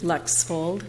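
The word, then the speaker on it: Lexvold: and follow your name for the record Lex fold is spelled be EV er ly Lex fold which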